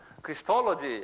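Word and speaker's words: Christology: 크리스톨로지 그래요. 여기 좀 보면 크라이스는 예수님이죠. 이게 왜 이렇게 복잡해죠? 응? 크라이스트 크라이스트인데 여기다가 크리스톨로지 그래요. 토로지 그래서 크리스톨로지 한번 발음해 보어.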